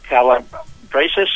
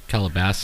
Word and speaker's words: Calabasas: However, I happened to find myself on the freeway 101 heading south at around 9:45 p.m., passing Calabasas, I believe that's pronounced. Calabasas. Calabasas.